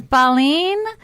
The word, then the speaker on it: Baleen: i love that so anyway the restaurant is baleen and how do you spell that b-a-l-e-e-n yes and it means whale right